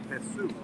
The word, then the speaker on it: Jesú: It's Dr. Jesú. Yes. J-E-S, accent on the U.